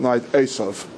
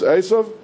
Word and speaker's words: Eisav: Isa is how it's always transliterated into English. I'm going to use the Hebrew pronunciation throughout. Asov. Okay. The person we're talking about is Asov.